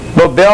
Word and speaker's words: Nobel: Nobel, oxítono em L, não tem porque acentuar.